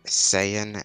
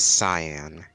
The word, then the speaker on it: Saiyan: the Goku balloon again they mispronounced Saiyan s cyan those things don't look even those two words don't look remotely similar so I don't know